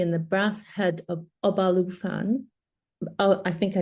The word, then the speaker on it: Obalufon: His novel, Shigidi and the Brass Head of Obalufon, uh I think I spelled I I pronounced that wrong, Obalufon, a story of African gods liberating an item